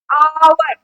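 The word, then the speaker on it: hour: आवर।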